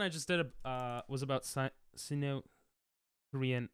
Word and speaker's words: Sinnoh: Sino. It's pronounced Sino. I always thought it was Sinnoh.